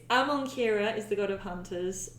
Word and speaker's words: Amonkira: It's really because It's you're like a few Shahira, syllables Shahara. away. But it's Amonkira is the god of hunters, and Kalahira is the mistress Oh, of.